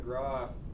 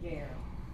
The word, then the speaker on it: guerre: I talked about nom de gras a few months ago. Okay? Guerre. Guerre, is that how it's Guerre, pronounced?